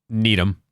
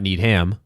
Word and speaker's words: Needham: If it's a 2-syllable town that ends in HAM, it's an. If it's more than 2 syllables, it's a ham. Interesting. Okay. Yep. So Dedham, Rainham, Framingham, Needham. Not Needham, but Needham.